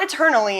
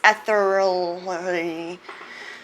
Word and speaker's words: ethereally: do you pronounce it it's a thoroughly eternal not it's not eternally it's ethereally god i i sound